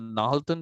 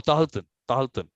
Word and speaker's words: Tahaltan: community in Canada, the Nahaltan Nation. Is it a Nahaltan? Am I pronouncing it correctly? I don't know. Not sure. Not sure. Not sure. I don't know. Okay, so Tahaltan, no, Tahaltan Nation.